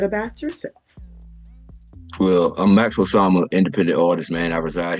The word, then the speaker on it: Osama: Osama, yes, ma'am. Maxx Osama.